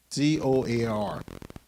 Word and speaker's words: Zoar: Z-O-A-R. How you pronounce it?